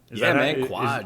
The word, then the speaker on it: Kwaj: Quaj. Is that the appropriate pronunciation, Quaj? That's how I was pronouncing it in my head. Yes, Quaj.